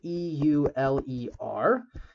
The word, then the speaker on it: Euler: euler um which for reference uh is spelled e-u-l-e-r and pronounced uh pronounced euler or at least it's